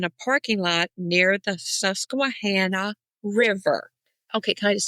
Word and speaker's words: Susquehanna: That is because on podcasts, I heard people say, they even call it Hancock. So have you heard that? Susquehannock River. No. Yes. That's, I've heard that on podcasts. And I'm like, Susquehanna. And every time I heard it, I'm like cringeworthy. Like, it's Susquehanna. It's a Susquehanna River. Yeah. We're saying it right. Y'all saying it wrong.